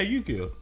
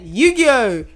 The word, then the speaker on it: Yu-Gi-Oh: Yu-Gi-Oh. Yeah. Is that the same with him? No, that's how you pronounce it. No, it was in the cartoon. Yeah, Yu-Gi-Oh. Is that how you say it?